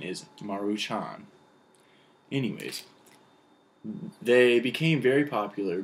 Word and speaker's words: Maruchan: 1958 and were invented in Japan the correct pronunciation is Maruchan anyways they became very popular because of their